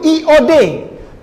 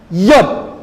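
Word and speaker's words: יוד: Nah, huruf yang tadi saya tunjuk itu tulisan sebetulnya itu IOD, tapi dibacanya Yod, seperti Y, benar ya?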